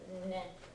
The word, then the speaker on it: 年: 4年生です。はい。Make sure you're pronouncing this as nen.